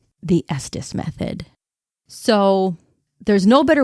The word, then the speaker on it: Estes: And yes, it is pronounced Estus, just like Estis Park, Colorado, where it was created.